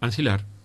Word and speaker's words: ancilar: Ancilar. Ancilar. Ancilar. ¿Y qué se escribe con X? No sé. Con C. Ancilar, como suena con C.